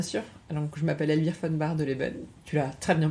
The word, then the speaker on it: Elvire Von Bardeleben: fund oui bien sûr alors que je m'appelle admire fans barre de level tu as très bien prononcer je suis journaliste au monde depuis cinq